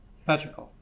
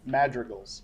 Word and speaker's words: Madrigal: Patrical. Can you say it again? Patrical. Patrical is incorrect. Marion. Madrigals.